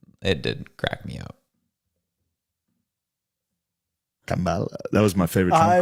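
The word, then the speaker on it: Kamala: They thought I was saying it wrong when I said Kambala. I was not.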